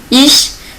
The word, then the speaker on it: ich: Sinon, en général, avec les autres lettres, il se prononce sh. Ich, c'est moi, je. Le premier personne de singulier, je. Frankreich. Ok? On entend bien? Frankreich, c'est la France.